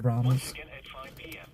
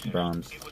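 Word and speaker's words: Braum's: They have bronze out here in Oklahoma, but it's spelled B A B R A U M S and it's ice cream and burgers and stuff. You sure it's not called Brahms? No, it's bronze.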